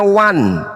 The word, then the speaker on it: one: dengan kaidah bahasa sumbernya Kenapa kita baca Wan padahal tulisannya oneam Ayo Kenapa kita baca